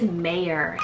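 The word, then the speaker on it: Meir: Scottish rooted name meaning Scott next up is Mayor spell m-e-i-r mayor this one is the original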